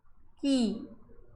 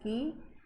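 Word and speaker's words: χ: it is represented by key actually it is x but it is pronounced as key and it is not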